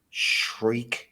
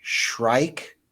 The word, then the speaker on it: shrike: and there's shrike shrike I always say her name wrong it's a it's a bird Songbird shriek shrike shrike and she's an opera